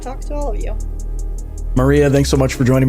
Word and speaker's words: Marija: So it's going to be Marija, spelled with a J. So I'm pretty much the only Maria there with the J in automotive. You'll find me easy. So it's Marija.